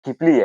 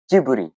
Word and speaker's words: Ghibli: BTW pelafalannya bukan Gibli ya tapi Jiburi.